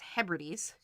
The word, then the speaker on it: Hebrides: the outer hebrides which i learned recently that i've been mispronouncing this whole time um but it's hebrides um and so this